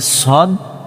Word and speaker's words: ص: যাতে এটা না হয় যে সদ আর সিনের উচ্চারণ যাতে এক না হয় সিন জবর সা সবার ছা হয়ে যায়।